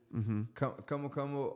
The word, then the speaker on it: camu camu: in Brazil, your native country, which is called camu camu. Am I pronouncing that right? Yes. Camu camu, or there's a scientific name for camu camu as well that I don't remember right now.